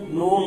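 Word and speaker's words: ن: মিম মিম নুন নুন নুন নুন নুনের মাখাজ না জানলেও নুনের উচ্চারণ হয় যেন নুন না হয় যেন কি নুন নুন ওয়াও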